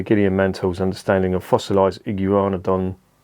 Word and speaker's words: Iguanodon: mantle's understanding of fossilized iguanadon it is iguanadon that's how you say it iguana don thief discovered in discovered